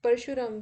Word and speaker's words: Parshuram: Sorry for the wrong pronunciation. It's Parshuram, we will say.